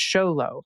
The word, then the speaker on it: Xolo: before but the Xolo breed of dog is pronounced Xolo which is short for Xolo eats quintly.